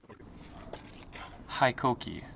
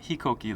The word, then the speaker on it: HiKOKI: Hikoki, not Hikoki like Japanese pronunciation.